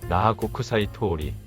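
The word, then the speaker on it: 那覇国際通り: 나하국제거리의 일본 발음은 나하고쿠사이 토오리.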